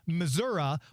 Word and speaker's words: Missouri: or anything please no I just thought it was pronounced Missour I thought people from Missouri pronounced it Missour depends because our our former Senator Claire MCC CasCal would always say Missoura but that was when she was kind of more in the rural area and she was talking